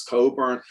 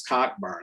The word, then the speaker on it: Cockburn: So people like Rick Ruskin and Bruce Coburn, like Bruce Coburn is spelled Cockburn. So for the longest time, I thought it was Cockburn.